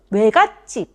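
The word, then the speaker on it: 외갓집: How is it when you pronounce Oegatjip? The shape of the lips at the beginning and end of the pronunciation is different. Right? When the shape of the lips at the beginning and end of pronunciation is different, it is called a diphthong.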